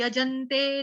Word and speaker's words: यजन्ते: उसके बाद है यजन्ते नाम यज्ञैस्ते, यजन्ते, यजन्ते, यजन्ते, य पूरा ज पूरा ज के साथ आएगा आघात आधे न का, यजन्ते, ठीक, सिंपल है।